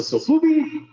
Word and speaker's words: Sofubi: Godzilla Sofubi.